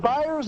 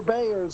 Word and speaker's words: Byers: Is it Byers or Bayers? I just want to make sure I pronounce it correctly. Well, if it was Bayers, it'd be Bayer.